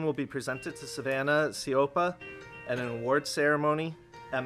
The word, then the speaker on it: Siopa: Am I pronouncing that last name right? Okay, Siopa.